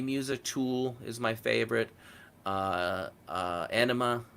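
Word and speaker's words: Ænima: tool is my favorite anima is my favorite album of theirs I believe that's how you pronounce it it's spelled differently and I'm more like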